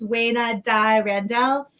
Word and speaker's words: Weina Dai Randel: for being here and our guest today is wayna dai randell whose latest novel the last rose of shanghai